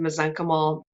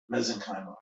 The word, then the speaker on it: mesenchymal: Okay, the mesenchymal, there's 2 ways to say it, tomato, tomato. I say mesenchymal. Rob, how do you say it? I'm going to ask my husband. Mesenchymal. He says mesenchymal. You can say it either way.